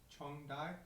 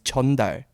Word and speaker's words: 전달: 정달? No, you guys said it wrong. It's not 정달, it's 전달. I just said that.